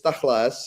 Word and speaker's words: Tachles: Actually uh the right pronunciation is taklas and the name comes from Hebrew and uh we have uh some of the Israeli audience here it means to the point.